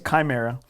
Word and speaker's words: Chimera: course called Chimera or I see it's spelled like Chimera but okay it's Chimera it was 67 bucks